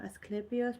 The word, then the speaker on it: Asclepius: Asclepius pronounced Asclepius was the greatest healer of the ancient world.